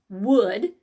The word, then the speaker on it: wood: off okay what but the rest of it says wood this is like would you pick up that book for me not I'm gonna chop some wood for the fireplace okay I know they sound alike but it's spelled differently